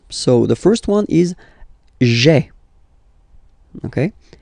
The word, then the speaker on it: j'ai: Remember, when you combine this A-I, you get the E sound, okay?